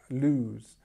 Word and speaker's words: lose: in its infinitive form to lose we have this ooh sound so lose okay um just be